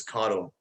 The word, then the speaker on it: caudal: The opposite of rostral is caudal. Caudal rhymes with bottle, and athletes drink from